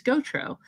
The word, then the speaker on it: Gautreaux: of it because it's my last name is Gotro and Mhm. it's spelled Gautreaux.